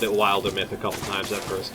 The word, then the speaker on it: Wildermyth: Wildermyth. Wilder Myth. Oh yeah, suppose we're actually verbally talking now. I can tell you how to correctly pronounce the game. It's Wildermyth.